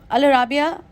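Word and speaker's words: Al Arabiya: मैं आपको बताती हूँ, अल अराबिया और अल अरेबिया, either of द two pronunciation है इस चैनल के, जिसमें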